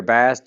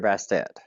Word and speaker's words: Bastet: They have one name that could per be that can be pronounced multiple ways. So you hear Bast, you hear Bastet, but she's woven into